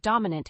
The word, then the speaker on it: dominant: first word is dominant the word dominant has three syllables with the stress on the first syllable dominant is an adjective